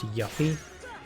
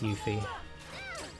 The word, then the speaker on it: Yuffie: she was called yuffie i thought her name was pronounced yuppie but it's not it's yuffie i don't know how